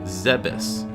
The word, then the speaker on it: Zebes: With this information, I can now begin to correct my pronunciation to Zebes.